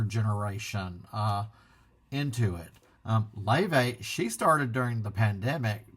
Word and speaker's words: Laufey: they showed the singer Le um I had call her Lai L a U fy but her her she pronounces it le never given her much